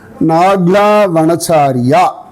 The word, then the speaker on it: Nagla: அதனால் அவன் வனச்சாரி தான் அப்படின்னு கோபிகைகள் கிருஷ்ணனை வனச்சாரி அப்படின்னு பற்றி பேசிட்டு இருந்த கிராமத்துக்கு பேர் நாக்லா வனச்சாரியா அப்படின்னு பேர். சூப்பர்ல. சரியா, அது நகலா வனச்சாரியா. மக்கள் இதை மாதிரி ப்ரொனவுன்ஸ் பண்ணுவாங்க இல்லையா, நாகலா நகலா அப்படின்னு.